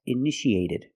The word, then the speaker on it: initiated: initiate in the past initiated the second T is between vowels so we pronounce it like a fast D Ed initiated initiated it means started example